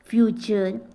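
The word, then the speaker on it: future: कि है कल्चर क्या बोलते हैं कल्चर पिक्चर फ्यूचर फटू नहीं बोलना देखो भाई फटू नहीं बोलना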